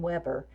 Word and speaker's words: Weber: It's by Riddle and Weber, and we actually do pronounce this one Weber.